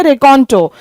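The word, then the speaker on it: raconteur: Okay, ये इसकी pronunciation है रेकॉन्टो, और इसका मतलब होता है एक ऐसा व्यक्ति जो कहानी सुनाने में माहिर हो।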